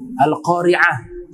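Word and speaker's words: القارعة: salah di Misnya alqoriah yang betul pakai Ain alqoriah itu hari kiamat benar Mungkin yang dimaksud Hamzah dalam Alqur'an tidak pakai Hamzah pakai Ain nah ini ya ditujukan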